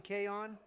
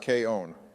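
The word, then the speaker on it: けいおん!: your favorite girl in K on actually Donald it's pronounced K own you've already made what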